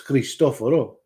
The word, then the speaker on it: Christophero: I'm Christophero. That's my actual That's how you say my name. It's kind of like how you spelled thatian, but it's Christophero.